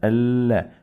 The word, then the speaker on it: Allah: We pronounce lam 2 times. So we have shadda, Allah, and the fatha.